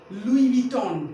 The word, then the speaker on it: लुई विटॉन: उच्चारण करना। इंग्लिश को कैसे पढ़ेंगे? क्या? इंग्लिश को कैसे पढ़ेंगे? ध्यान रखिएगा, लुई विटॉन।